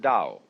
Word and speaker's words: Dao: and the book is called the Dao de Jane if there were an apostrophe after the T you would pronounce it Tau but if there is no apostrophe you pronounce it Dao because our Scholars made